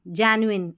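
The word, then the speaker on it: genuine: पढ़ देंगे ठीक है जी नहीं पढ़ना है जय न्यू ऐसे तो इसको जेनुइन भी नहीं पढ़ेंगे। जेनुइन जेनुइन ऐसे करके प्रोनाउंस करना है।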